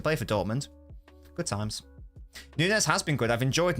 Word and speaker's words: Nunes: you rodri surging forwards Nunes don't shoot mate I should have listed a bit higher than Nunez is it Nunez or Nunez no it's Nunes I had to research the Portuguese pronunciation bikini what's he done